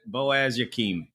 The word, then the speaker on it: Boaz Yakin: I meant to look up how to pronounce this man's name. Can you help me out here at all? Boaz. Boaz Yakim.